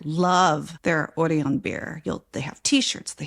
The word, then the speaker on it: Orion: It's spelled Orion, like Orion, but they pronounce it Orion.